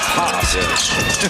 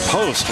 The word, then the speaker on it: Post: Well, Quinten Post is a 7-footer from the Netherlands, where I understand his name is pronounced Post, but he prefers Post when he's here.